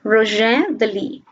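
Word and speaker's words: Rouget de Lisle: This is the French pronunciation, Roger de Lis.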